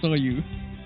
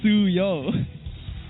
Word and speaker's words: Suyo: say his name as Soyu. How do you pronounce it? It's Suyo. It's U and then O.